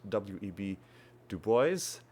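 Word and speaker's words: W. E. B. Du Bois: share that uh that it's actually pronounced web to boys and sadly because I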